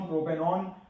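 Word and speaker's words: propanone: प्रोपेन plus own प्रोपेनॉन इसको वन नहीं बोलना है। इसको प्रोनाउंस तो हम ओन करेंगे।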